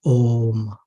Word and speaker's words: Om: So when we look at this sound Om, symbolized this way, we see that it is made of three syllables or three sub-sounds, A, U, and Ma. And when combined, the sound is Om.